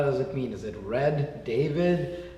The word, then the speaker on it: Redavid: When I came to Canada from Italy, normally there's an E on the end. Yeah. And they took the E off because a lot of people couldn't pronounce it properly. Right. So Redavid, and we decided, it's